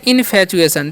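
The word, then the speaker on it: infatuation: इनफैचुएशन देखिए इनफैचुएशन है देखिए आई एन से क्या करेंगे इन और एफ ए का फ ए का उच्चारण ए का इन फ टीयू का च करना उच्चारण क्या इ च करना टी का क्या करना है च ठीक है तो य पर इनफ टी का च च यू का हरशु अब ए टी आई ओ एन है तो तो हो गया इनफैचुएशन ठीक है इनफैचुएशन पढ़ते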